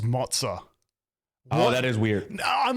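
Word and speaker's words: Moze: go for it's that m o z e spells mozah oh that is weird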